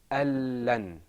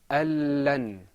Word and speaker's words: ألن: Al-lan. ألن. Al-lan. ألن. Al-lan. ألن. So where did the noon go? The noon, because there's idgham here, we don't pronounce the noon, we go straight into the lam.